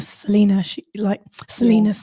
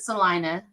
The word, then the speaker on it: Salina: I'm like, well, they pronounce it Salina, but we know it's Salina.